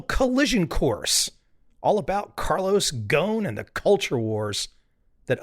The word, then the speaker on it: Ghosn: In the automotive world, he's known as Carlos Ghosn. It rhymes with phone or bone. Carlos Ghosn.